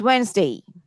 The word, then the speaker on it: Wednesday: আছে WEDNES, এখানে কিন্তু ডিটা প্রনাউন্সড হবে না। Wednesday, not Wednesday, not Wednesday, it's Wednesday, Wednesday, Wednesday.